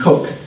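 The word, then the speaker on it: Coke: And this gentleman on the right here is Sir Edmund Cook, spelled C-O-K, but pronounced Cook, who was a preeminent lawyer, and he lived from 1552 to 1634.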